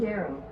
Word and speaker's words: curandero: So let's see how to pronounce it. I never learned it. Mexican medicine. Curandero.